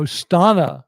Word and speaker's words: Stana: Oh, Stana. Sorry. Stana rhymes with Donna.